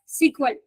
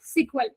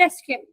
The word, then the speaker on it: SQL: स्ट्रक्चरर्ड query language is also pronounced as सीक्वल। अब इसका पहले नेम था स्ट्रक्चरर्ड इंग्लिश क्वेरी लैंग्वेज और अभी इसे प्रोनाउंस किया जाता है एज अ सीक्वल या फिर एसक्यूएल।